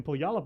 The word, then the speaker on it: Puyallup: Oh, in Puyallup, Washington.